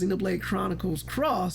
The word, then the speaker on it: Xenoblade Chronicles X: So super nerdy guy, friend of the channel, came in and he said it's actually pronounced Xenoblade Chronicles Cross.